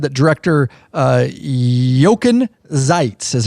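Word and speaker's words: Jochen Zeitz: that but Hardy's board said that director uh yoken zeites is how you pronounce would serve as acting CEO and board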